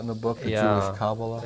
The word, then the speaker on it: Kabbalah: The Kabbalah you talk about in the book, the Jewish Kabbalah? Right. Is that the right pronunciation?